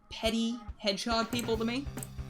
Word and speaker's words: Petit: name because it is you would think it's called petit Hedgehog petit according to Google is uh it's just petty like you know you're being petty about something so so I can anyway